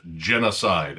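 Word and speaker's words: Jenna Side: he told me is Genocide. And it's spelled j e n n a space side. So, it's like a woman's name, and I don't know, that's kind of clever.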